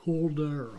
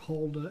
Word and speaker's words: Hulda: And the train we're really wanting is the Hulda, Hulda, H-U-L-D-A, I'll call it the Hulda.